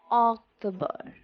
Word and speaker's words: October: So the correct pronunciation is October.